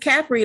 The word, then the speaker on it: Capri: Are they looking for the H after the A? Huh? They must be looking for the H after the A. No, just Capri, like as in the short sound vowel.